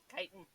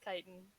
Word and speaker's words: chitin: it it's it's okay this is chicken Titan Titan thank you I don't know why I pronounce that I don't know that's English for you pronounce it so it's chitin what cool he goes